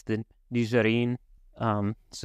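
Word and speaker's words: Nigerien: if you're talking about the people it's the nizarin um so it's it's a based off a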